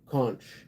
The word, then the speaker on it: conch: Kunch. I've heard it pronounced both ways. I forget which way is right. Conch. Is it conchk or is it conch? Um conch. That's conch.